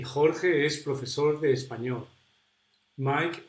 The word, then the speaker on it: Jorge: The tongue is behind my teeth, and a little bit down here. Jorge, Jorge, ja, je, ji, ho, hu.